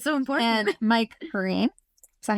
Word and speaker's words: Perrine: And Mike Green. Is that how you pronounce it?